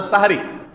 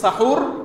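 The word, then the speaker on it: সাহরি: হয় সাহুর আর না সাহারি হয় বলবেন সাহুর আর সাহুর বলতে যদি কষ্ট হয় দরকার নাই তাহলে সেহরি না বলে সাহারি বলুন দন্ডের উপরে আকার দিয়ে দেন ব্যাস হয়ে গেল তাহলে বিশুদ্ধ উচ্চারণটা হবে এখানে সেহরি বললে সাহারির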